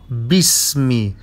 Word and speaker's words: باسم: اقرأ باسمي. The ألف of باسمي is not pronounced. باسمي not باسمي.